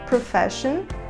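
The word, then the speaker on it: profession: profissão e é aqui de novo o ss ganhou um som de X por Fashion e o uso da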